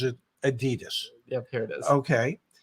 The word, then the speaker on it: Adidas: one uh the company begins with an a a d i d a s and in this country everybody pronounces it Adidas yeah here it is okay and and the